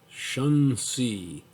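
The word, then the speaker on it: Xunzi: bhagavad gita and a discussion of heaven by shun c so it's a confucian scholar that's spelt x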